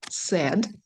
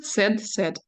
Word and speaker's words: said: Глагол пишется said, а читается как печальный. Это прихоть самих англичан. И вторая, и третья форма said.